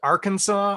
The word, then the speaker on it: Arkansas: real problem that uh kansas and arkansas aren't pronounced the same-ish why isn't it our kansas yep anyway uh next